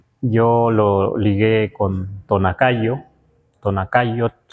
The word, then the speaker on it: Tonacayotl: Tonakayot, que por lo pronto así lo pronunciamos.